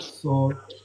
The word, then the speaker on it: Saul: Saul, Saul. Saul. King's, is it King's Saul, Saul? like Paul in it, but Saul.